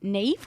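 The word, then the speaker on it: Niamh: even i guess onyu's actually a lot easier to pronounce now than when you see neve with an m and a h and stuff you know i'm like we're going to get in sister got that for four years yeah she was teaching in abu dhabi miss nam but in like obviously in ireland that's like they know that to pronounce it as nev but then here we're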